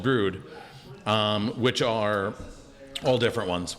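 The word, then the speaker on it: Bru-1: the name yeah brewed with blood oh okay brood so b-r-u b-r-u-1 is a new hop okay so we do a whole series called brood which are all different ones we do a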